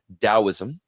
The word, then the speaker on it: Taoism: it's a remarkable philosophy taoism yeah that was spelled a taoism pronounced with a d spelled with a t is Chinese okay that's